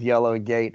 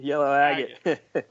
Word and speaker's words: Yellow Agate: I have to cast your balls for that pronunciation, though. Yes, indeed. Yellow Agate? Indeed, Yellow Agate.